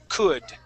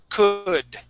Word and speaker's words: could: So that the D, how we pronounce that D is going to be like a Spanish R.